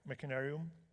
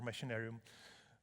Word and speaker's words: Machinarium: inventing the city of Machinarium or Machinarium the pr pronunciation is okay both ways we call it in